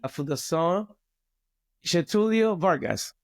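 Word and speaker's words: Fundação Getulio Vargas: An alumni of FGV, Fundación Getulio Vargas. I pronounced it properly?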